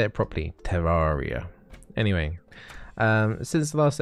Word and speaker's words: Terraria: you know it's trying to say it properly terraria anyway um since the last episode i did